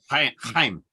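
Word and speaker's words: Chaim: know how it's pronounced Heim High Heim yeah I'm like like Gene Simmons really I'm high exactly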